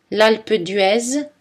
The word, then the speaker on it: L'Alpe d'Huez: En général, la lettre Z ne se prononce pas en position finale. Né, ri, rez-de-chaussée. Des exceptions notables sont gaz, L'Alpe d'Huez, Suez. Le son J est représenté